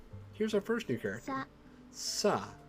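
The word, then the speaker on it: さ: Sa. It is a consonant followed by a vowel and makes up a single syllable. You pronounce this one as sa.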